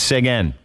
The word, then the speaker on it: Seguin: It's Seguin. That's how you say it.